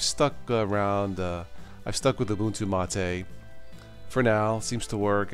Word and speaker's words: Ubuntu MATE: If you are a newbie, definitely check out Ubuntu Mate, and it is pronounced Ubuntu Mate.